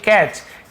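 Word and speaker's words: catch: यहां पर भी देखिए कैच टी साइलेंट है कैच चीनी पढ़ेंगे कैच पढ़ेंगे टी को हम लिखने जरूर है पढ़ने नहीं है तो कैच यानी होता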